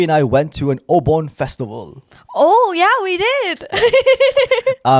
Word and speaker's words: Obon: It's pronounced Obon and not Obon, which is how I've been pronouncing it. But again, Obon.